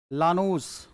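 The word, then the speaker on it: Llanos: लानूस, आई silent है, लानूस, Venezuela.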